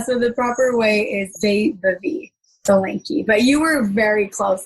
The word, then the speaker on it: Vaibhavi Solanki: Before I keep going, do you mind pronouncing your name the proper way? Yeah, so the proper way is Vaibhavi Solanki, but you were very close and it was a great effort.